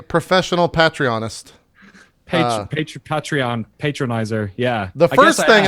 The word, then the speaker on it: Patreon: Because pay and patronage.